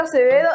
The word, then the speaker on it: Acevedo: Tengo la misión de compartir con Acevedo y María Paz Granger. ¿Cómo se dice María Paz? Grandjean. Grandjean. Mais il se dit Grandjean. En chileno yo lo digo nomás Grandjean. Grandjean. Y el mío es Acevedo.